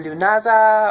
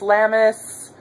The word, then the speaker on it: Lughnasadh: happy lunaz to everyone or llamas or lunaz or uh lemus lamus however you want to pronounce it there's a b gajillion ways to say it anyway this is